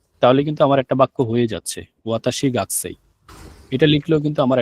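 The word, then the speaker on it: は: আমরা হাটা ব্যবহার করব, তখন হাটা উচ্চারণটা হা হবে না। হা এর উচ্চারণ হবে যে ওয়া এর মতো।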